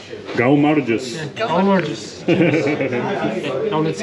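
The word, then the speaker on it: გაუმარჯოს: Go Marjus. Go Marjus.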